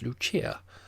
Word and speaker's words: Lucia: intimate of her subjects as Lucia, pronounced, of course, in the Italian mode, La Lucia, the wife